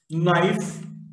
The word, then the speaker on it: knife: K in the sequence KM. K is not pronounced. No, knowledge, knife, etc.